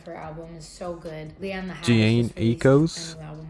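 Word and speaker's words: Jhené Aiko: album is so good ecos that's how you say her name i've always said jen aiko or disposable or like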